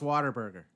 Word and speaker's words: Whataburger: thing is waterboarding yes you can say it like a Texan here we go cuz it sounds like water Bernhard why it's Whataburger now but it's pronounced water burger Whataburger it also knows